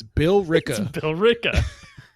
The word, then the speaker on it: Billerica: called uh it's spelled b-i-l-l-e-r-i-c-a and some might think oh it would be pronounced Billerica but no it's Bill Rica Billerica should we have